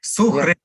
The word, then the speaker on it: Suhrid: First name, Suhrid. Yeah. S-U-H-R-I-D. Suhrid. Okay, Suhrid. That's how you pronounce. Like Hriday. All right, like Hriday.